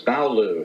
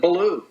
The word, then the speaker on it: Ballough: French name b-a-l-l-o-u and in England after 1066 they added the GH which is silent uh very good is